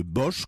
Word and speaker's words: Bosch: il choisit le nom de bosch que je prononce à la française parce qu'il est originaire de la ville qu'en français nous appelons bois le duc et qu'il s'appelle est